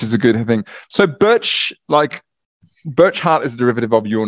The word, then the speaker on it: Burchgart: And Burcheart is the way you actually pronounce my surname.